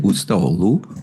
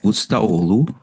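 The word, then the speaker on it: Ustaoğlu: Is it Ustaoglu? Ustaoglu? Something like that. You don't say the G, do you?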